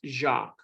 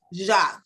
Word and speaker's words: Jacques: My first name is pronounced Jacques. Jacques, okay, thank you.